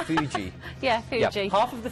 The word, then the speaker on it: Fuji: Is it Fuji? Yeah. Not Fiji, but Fuji.